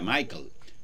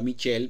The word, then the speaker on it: Michel: aprovecho para decirles que sus nombres reales michel camilo en inglés se pronuncia michael a él no le gusta y prefirió cambiarlo a michelle para no confundir a los angloparlantes nacido el 4 de